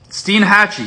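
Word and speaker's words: Steinhatchee: in 1929 after ponte vedra spain last one steen hatchy steen hatchy is known for scalloping and the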